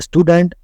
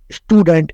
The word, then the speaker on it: Student: pronounced this is because the first character of the word is s which is followed by a consonant t in such a case you will no longer pronounce us as a student but student in German my sister is a